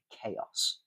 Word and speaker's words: chaos: And then we have Greek words like chaos, right? That's a CH at the beginning, but it's pronounced k.